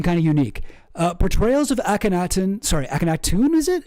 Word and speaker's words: Akhenaten: Sorry, somebody told me how to pronounce it. Who said that? Oh, geez. Akhenaten.